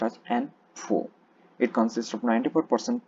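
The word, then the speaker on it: ANFO: and stabilizers next is an a4 it is pronounced as n4 it's called ammonium nitrate foil oil is a widely used bulk industrial explosive its name commonly pronounced as n4 it consists of 94 percent porous build ammonium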